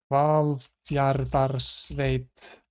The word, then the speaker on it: Hvalfjarðarsveit: We have Hvalfjarðarsveit. Akranes. HV is pronounced kv, apparently.